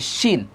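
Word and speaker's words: شين: আর শিন যখন বলবে তখন জিহ্বা কখনো দাঁতের সাথে লাগবে না, দাঁতের এই যে ভিতর থেকে যে দিকটা লাগবে না, একটু ভিতর থেকে উচ্চারণ হবে শিন, শিন। আমি আপনাকে আরেকটু সহজ করে বোঝাই দিই। শিনের উচ্চারণটা অনেকটা তালব্যস্য আছে না বাংলাতে, তালব্যস্য, তালব্যস্যর মতো করে হবে শিন।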